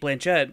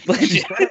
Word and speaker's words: Blanchett: end up on Kate Blanchett. So, or Blanche. How do we pronounce it? Blanchett. I just realized I've been saying that all wrong.